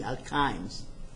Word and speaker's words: alkynes: A-N-E, this is E-N-E, and this is Y-N-E, alkynes, pronounced alkynes, correct?